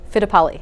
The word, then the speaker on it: Fittipaldi: a German name okay and just Fittipaldi fitta poly yeah the Paul D yeah yeah I like it Italian yeah yeah Italian so